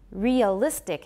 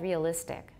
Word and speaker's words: realistic: Thus, many people will say that realistic has three syllables. How many do I have? Realistic. Realistic. Realistic. Realistic. I say four, realistic.